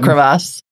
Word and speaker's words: crevasse: Well, I'm glad you didn't fall into a crevice when you had your carafe. A crevasse.